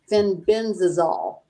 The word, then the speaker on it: fenbendazole: And it shows the protocol for fenbendazole, if I'm saying that right.